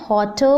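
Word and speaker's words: hotter: getting हॉट ध्यान दीजिएगा मैं हॉटर बोल रही हूं जहां कि र साइलेंट है स्पेलिंग है एच ओ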